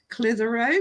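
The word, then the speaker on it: Clitheroe: the road a mountain it's called clithero but it's spelt hero so i just annoy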